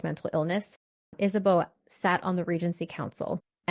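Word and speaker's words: Isabeau: to as Isabella and she's also referred to as isabo because she is Bavarian and so I'm going to call her Queen is a b because that is her Bavarian name Bavarian pronunciation and that's also what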